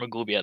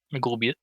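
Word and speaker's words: Maglubiyet: How do you say it? Maglubiat. Yeah, that's close.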